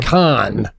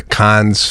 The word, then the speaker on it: Cannes: In Cannes, I know that S is silent.